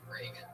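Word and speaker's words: Regan: Not like Ronald Reagan. It's And now it's like there's no A in there. Follow him on Twitter at Patty Reagan.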